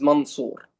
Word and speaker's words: Mansour: Ladies and gentlemen, my name is Mansour, not Mansour. I have seen some of you have spelling my name very wrongly. It's Mansour. It's not Mansoor.